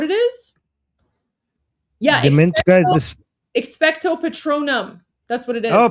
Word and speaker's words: Expecto patronum: Expecto patronum. Wait, what is it? Petronium. Expecto petronium. Is that it? Is that the spell? Is that what it is? Yeah, Dementor, guys. Expecto patronum.